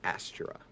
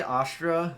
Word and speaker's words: Astra: that that asent uh I say Astra but I get told it's wrong every time so oh well you know what that's okay Astra is the way everyone else pronounces it but I um I am my opinions because I had a song in choir that we had to do that pronounced the asra so I will hold that to my grave that's how it's pronounced and everyone can fight me for it if they want